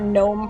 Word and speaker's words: gnome: Emily says, I startle every time I hear gnome pronounced in English. What are you doing to this poor G? Ignoring it?